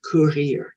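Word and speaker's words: courir: are going very fast and in french it's currier can you say that curlier let's let's run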